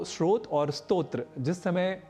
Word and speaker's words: स्तोत्र: दूसरा शब्द है श्रोत यहां स्तोत्र को सामान्य रूप से स्रोत बोलना अथवा लिखना अशुद्ध है क्योंकि स्तोत्र और श्रोत